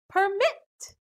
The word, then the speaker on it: permit: syllables contain short vowels but still the stress is on the second syllable admit permit rule number three there